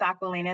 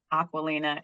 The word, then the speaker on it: Aquilina: It's actually pronounced Aquilina. It's my grandmother's name. But so my parents wanted to make like a little bit of a different spin on it, so they called me Aquilina. But it actually is pronounced Aquilina and as the original name.